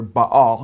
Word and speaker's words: Baal: and then baal or he says bell b-e-l or ba all he spells it b-a-a-l how the bible spells